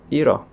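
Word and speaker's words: 잃어: Dan saat double bacim real dan hiyet bertemu dengan huruf vokal, maka akan dibaca keduanya. Shiro. Shiro. Iro. Iro. Double bacim berikutnya ada kombinasi dari biyep dan syad.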